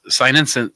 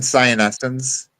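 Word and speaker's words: cyanescens: really cool little operation someone said cinus sinin oh my gosh tongue died sinin oh my gosh I cannot say it help me out Alan well could have been cyan ens okay I think it was cyan ens but are my favorite that's exactly what it is yeah oh my I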